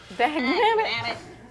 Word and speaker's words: dag nabbit: It says stuff like dag nabbit. Dag nabbit. Cool. It rhymes with rabbit.